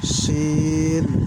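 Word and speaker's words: شين: scene সিনের সিফাত চিকন ঠিক আছে বুঝতে হবে শিন শিন শিন শিন শিনের সিফাত হচ্ছে শাসা ঠিক আছে শাসা আওয়াজ হইবো শিন শিন প্রিয় দর্শক আরেকটা জিনিস দেখাই দেখেন শিনের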